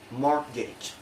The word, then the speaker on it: mortgage: The letter T only has one rule, that is not pronounced in the following common English words.